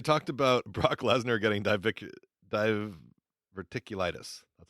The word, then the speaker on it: diverticulitis: They talked about Brock Lesnar getting diverticulitis.